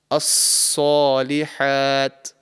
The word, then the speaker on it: الصالحات: thick letter, circulated, and your tongue should be raised to the roof of the mouth and try to make this sound a little bit heavy. So, saw, As-salihat, as-salihat. So this is the correct pronunciation.